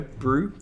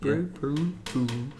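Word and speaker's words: Buru: Oh, thanks for the follow, Brew, B-U-R-U, Brew. So I'm so bad. I have to try and remember pronouncing everybody's usernames on here.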